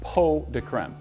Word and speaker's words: pot de crème: Today we are going to be making chocolate pot de crème. It's spelled pots de crème, but it's actually pronounced pot de crème.